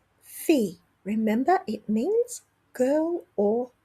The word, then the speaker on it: fille: Now, fille is a little quirky in that we don't pronounce the double L. So, it's sort of like fee, a fee you pay with a y on the end. Fille. Fille.